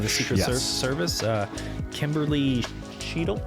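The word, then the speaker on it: Cheatle: Secret Service uh Kimberly cheel cheel is how you pronounce that I guess um she's a Biden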